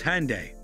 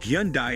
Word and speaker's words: Hyundai: In Korea, the name is pronounced as Hyun-day.